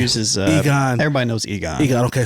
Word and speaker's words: Egon: This is something that was floating around on the internet or whatever, but I'm going to try to pronounce this guy's last just name. Uses, Egon.